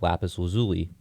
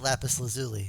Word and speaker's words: lapis lazuli: them up man well steven universe pronounces it lapis lazuli so if season if steven universe says it then it has to be true you know